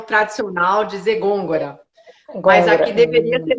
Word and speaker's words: Gongora: Como que pronuncia seu sobrenome? Gôngora.